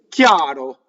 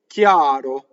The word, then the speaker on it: chiaro: So, chiaro, clear, right? CHI is chi, a, chiaro. Notice that I-A, chiaro. It's a semi-vowel from the E position. No Y, chiaro, right? No, chiaro.